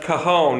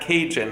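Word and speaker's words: cajón: we learned that empowered percussion Cajon drums is pronounced Cajon and not Cajon as I was pronouncing it earlier and it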